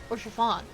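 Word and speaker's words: Haurchefant: his name's pronounced, because you don't pronounce the H, or most of the ending letters, Orchevant.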